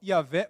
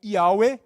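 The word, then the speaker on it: Yahweh: Esses, essas quatro letras que a gente fala Iavé ou Iuee, né, em hebraico, seria a pronúncia mais correta, significa yod, re, vav, re.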